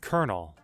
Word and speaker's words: Colonel: I probably already know what it is, I just can't pronounce it. Colonel.